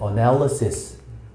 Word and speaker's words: analysis: 발음이 짜증나고 얘는 analiz 얘는 analysis 이강세. 그니까 얘는 애 발음이 나는 거고 강세를 가졌으니까 얘는 대충 어 이렇게 되는 겁니다.